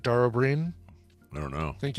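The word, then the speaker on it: Dara Ó Briain: It's Dara O'Brien, but it's spelled Briain, I think, and it's pronounced. And he is Irish, right? Dara O'Brien.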